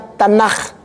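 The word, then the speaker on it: תנ״ך: TNKH dibacanya Tanakh.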